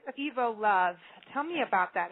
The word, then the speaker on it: EvoLove: We do get called EvoLove all the time, and I will answer to it, but we pronounce it EvoLove, like evolution.